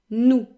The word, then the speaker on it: nous: It sounds a little bit like two O's in English, OU, but without the gliding. In other words, OU is a sound that kind of moves, whereas OU is just one quick sound that does not change. OU, OU, nous, nous.